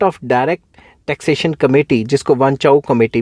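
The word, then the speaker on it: Wanchoo: तो कुछ लोग इसको वांचू कमेटी भी कह देते हैं, कुछ लोग वांचाऊ भी कह देते हैं, तो प्रोनाउंसिएशन वांचू करके है इसकी, ठीक है।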